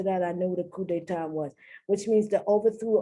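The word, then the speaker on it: coup d'état: it's an overthrow but it's not coop but i think a coup i think that's the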